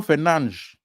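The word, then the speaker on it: Fernandes: ] United fans Champion Bruno Fernandez Bruno fernandz as they pronounce it bro this guy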